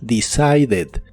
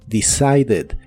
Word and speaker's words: decided: con e d y aquí sí se pronuncia la e d Así que es decided decided en el pasado lo